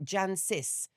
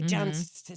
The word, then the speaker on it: Jancis: Now, Jancis Robinson, which is a very strange name, I don't know if it's Irish or what, Jancis. So it's got a C and an, like it's got an extra syllable. Anyway, Jancis, Yeah.